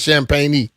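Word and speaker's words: Champagnie: At first, I thought they were saying his name wrong, but his name is Champagne.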